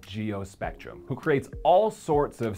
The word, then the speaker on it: GeoSpectrum: GeoSpectrum. Hey, Chris, we pronounce it GeoSpectrum!